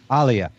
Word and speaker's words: Alia: Alia.